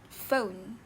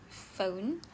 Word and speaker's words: phone: And then there's another word which is the word phone like phone ph makes an F sound.